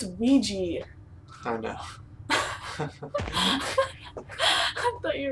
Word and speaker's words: Ouija: am I gonna die dear o board it's Ouija I know I thought